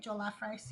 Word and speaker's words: jollof: Jollof rice.